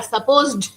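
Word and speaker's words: supposed: The cake, তখন কিন্তু সাপোজড ডিটা কিন্তু কেউ ওরকম উচ্চারণ করে না, কিন্তু লিখবার সময় কিন্তু তোমাকে ডিটা লিখতে হবে, যদি তুমি ডিটা না লিখো তোমার স্পেলিং মিস্টেক হয়ে যাবে।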